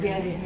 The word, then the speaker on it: Villarroel: Yes, and then Villarroel, I'm sure everybody says Villarreal. Villarroel, Yeah. like I did.